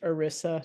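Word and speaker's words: ERISA: It's pronounced Orisa.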